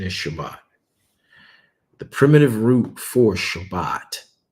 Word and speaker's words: Shabbat: it is the Hebrew word 7673 and its pronunciation is Shabbat the primitive root for Shabbat is to rest